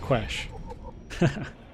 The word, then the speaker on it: Quesh: We found out now it's pronounced Quesh.